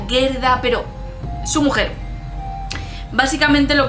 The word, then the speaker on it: Gerda: que es que la vi en inglés, se pronuncia Gerda, pero su mujer.